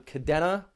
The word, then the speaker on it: Kadena: would be an i if you pronounced it kadina the way i noticed a lot of the military pronounces it out there i even served they used to pronounce it the wrong way until i was told